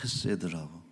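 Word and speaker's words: חסד: 헤세드라고 하 정확하게는 헤세드라고 발음을 했었죠. 근데 헤세드 여러분이 헤세드는음 하나님의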